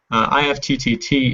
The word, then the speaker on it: IFTTT: Evernote plus ift apps IFTTT is pronounced ift and we'll get to